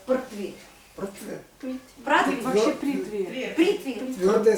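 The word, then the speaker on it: पृथ्वी: Да, произношение имеет в виду. Ну, нас спрашивают Притви. Это мы говорим прутви.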